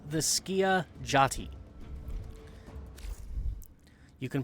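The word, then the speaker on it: Skiajati: It's pronounced the Skia Jati.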